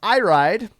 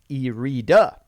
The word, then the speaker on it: Erita: erita speaking of them it's not pronounced I ride because I listen to listen to the Moray taverns podcast during the pandemic and I know this theme is pronounced irida they went four and